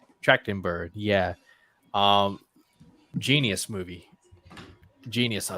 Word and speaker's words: Trachtenberg: How do you pronounce his last name? Trachtenberg.